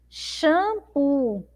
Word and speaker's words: shampoo: sílaba mais forte então nós temos duas sílabas aí ó shampoo shampoo qual é e lavar que eu demoro mais tempo falando ou seja qual é a sílaba mais forte shampoo Qual foi a que demorou mais aí shampoo então é a sílaba ó u.c.